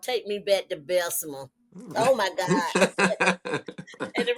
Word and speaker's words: Bessemer: So y'all know Bessemer is spelled Bessmer, but I Mhm.